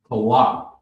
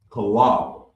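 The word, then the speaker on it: חלב: Now, first up on the list is milk, and it's pronounced kalab, kalab, kalab, and it's spelled CHAALB, LL, CHAALAB.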